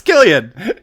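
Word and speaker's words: Cillian: Yes, it's Killian! Like when they did the Oscars and I heard everybody saying his name, I was like, ha! I was right! But his name starts with a C. It's Killian.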